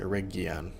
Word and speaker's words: Eregion: I think it's actually Eregion. I don't know that you... I think it's a hard G.